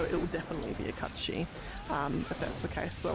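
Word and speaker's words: Cait Sith: Everyone says Kate Sith, but because it's an Irish term, its actual pronunciation is Katshi, if you were doing the correct Irish pronunciation.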